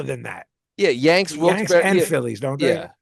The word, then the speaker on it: Wilkes-Barre: I said it wrong for years, and it's Wilkes-Barre. Wilkes Barre, like the animal. hmm Okay. I thought it was Wilkes Barre or Berry.